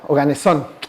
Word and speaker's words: Oganesón: Oganesón, qué bueno que lo dijiste con el acento en la O como debe ser, porque luego ahí dicen oganesón y no es cierto. ¿Ah? Oganesón.